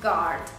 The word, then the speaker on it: guard: Ilyen például a guard. Oké? G-U-A-R-D, guard, tehát ott az U, de nem ejted.